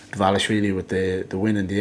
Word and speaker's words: Dvalishvili: And Dvalishvili is how I should pronounce his name. Sorry. Dvalishvili with the win in the end, which I thought was fair, but good fight on both sides.